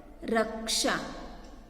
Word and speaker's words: रक्षा: रक्षा।